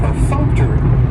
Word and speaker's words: perfunctory: is perfunctory and perun has four syllables and the stress is on that second syllable that funk per Funk to that third syllable has the schw and it's going to end with that long e sound perfunctory perfunctory and if